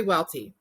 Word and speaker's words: Welte: with me i have with me welt did i pronounce that right it's actually welty welty welcome again she is one of our